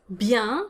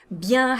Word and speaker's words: bien: some options or just bien means you're doing well bien has a nasal vowel in it so you don't want to pronounce that n the sound is yeah